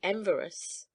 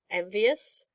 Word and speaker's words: envious: When he saw how rich Hans was getting to be, he became very enverous." "Very what?" "Enverous. He didn't like it, you know." "Don't you mean envious?"